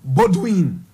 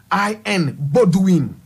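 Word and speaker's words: Baudouin: King Bodwin King Baldwin Baldwin is spelled b a o u d o u i n butwin that's b-a-u-d-o-u-i-n budwin he succeeded King Leopold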